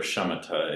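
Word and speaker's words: śamatha: buddhist teachings and um what i pronounce is samatha or shamatta in sanskrit is calming or relaxation form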